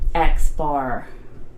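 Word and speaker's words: x̄: in a sample and it means x-bar that's how you say it so if you see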